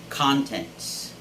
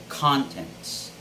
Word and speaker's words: contents: by something right and the stress should be on the first syllable always contents now if you switch the stress to the second syllable that would sound content and that would actually